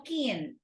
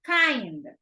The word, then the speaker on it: kind: Pronunciation, I am kind, no keen, kind, okay?